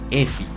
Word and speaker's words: Effie: El nombre de Effie proviene de la pronunciación de las letras F y E, que en inglés se pronuncian F and E, F-E.